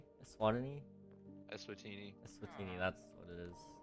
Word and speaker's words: Eswatini: Swatini. Swatini. Eswatini. Eswatini. That's what it is. You're really good at pronouncing.